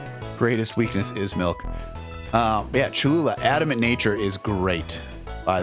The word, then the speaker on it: Cholula: Kahlua, good name. I like your Tabasco. It was a good thought. C-H-O-L-U-L-A. Kahlua. Kahlua. Kahlua. Cho-lu-la. Cho-lu-la. That's how you spell that, right?